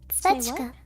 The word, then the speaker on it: Zwetschge: Schwetzka. Kawaii. Nani? What is Zwetschge. plum? Zwetschge. It means plum. Demo, because it has the zw. It has the zw sound. It's difficult for non-German speakers to pronounce.